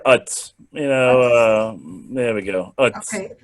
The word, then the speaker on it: Uz: There was a man in the land of, do you pronounce it Uz or Ooze? It's probably better Utz.